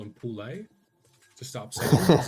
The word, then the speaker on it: Poole: Is it Poole? Is that how you say it? I got a mate with the exact same. Yeah, it's yep. Poole or Mitch.